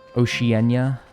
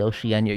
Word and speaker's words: Oceania: Oceanenia. Oh, it's actually Oceania.